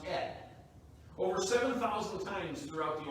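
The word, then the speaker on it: אֶת: It's pronounced et.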